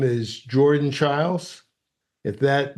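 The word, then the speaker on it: Chiles: her name is Jordan Charles if that name is familiar it's because it rhymes with her teammate Simone biles she's a gymnast a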